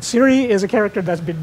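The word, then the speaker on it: Ciri: named Siri who say Siri uh her name oh God rabbits her full name is Silla but they call her Siri it's spelled with a c and Siri has what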